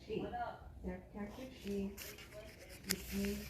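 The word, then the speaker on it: 四: Konko Daijin taught me, people avoid marrying someone who is 4 pronounced she or 10 pronounced June, years different in age because they believe it is unlucky.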